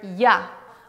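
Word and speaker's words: я: not least the letter yeah which is pronounced like yard ok guys congratulations we've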